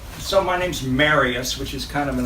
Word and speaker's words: Marius: a French name and it's supposed to be pronounced Marius. But it's my father's name and the one before that, and I'm the third, and they all pronounced it Marius. And so a good way to remember it is when you go to get married, you say, marry us.